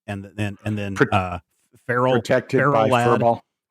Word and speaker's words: Ferro Lad: then and then uh Feralt. I I think they shouldn't call him It shouldn't be Pharaoh Lad, but Feral Ferro Lad.